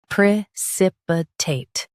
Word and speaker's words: precipitate: Pre sip. I tate. Preipitate. Pre sip. I tate. Preipitate. In US stress sip. In UK. Stress sip and soften I.